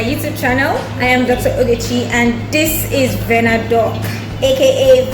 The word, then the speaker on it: Adetoun: Alright, so that's written Adetoun, and they try to tell you how it is pronounced.